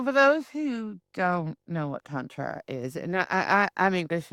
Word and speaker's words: tantra: So, so for those who don't know what tantra is, and I I'm English and we tend to pronounce it tantra, but tantra, can you without getting my channel banned?